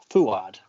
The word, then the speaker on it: Fouad: been on Ford's show, Fouad. How do you pronounce his name? Fouad? Ford? Fuad. Fuad. Thank you. Fuad.